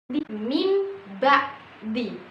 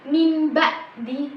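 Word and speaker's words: مِنْ بَعْدِ: huruf ba setelahnya eah maka huruf ba ini Menghilang berganti menjadi huruf mim nah H seperti mim ba mim ba'di maka di situ cara bacaannya bukan min ba'di min ba'di bukan tapi mim ba mim mimnya bukan benar-benar hilang tapi e dari huruf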